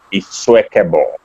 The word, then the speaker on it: Isuekhebor: So my name is pronounced, the I is pronounced as an E. So you start with E. The next word is swear. The next word is care. The next word is bor. So Isuekhebor. Isuekhebor.